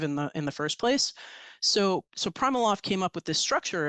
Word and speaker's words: PrimaLoft: And it is PrimaLoft, not PrimaLoft.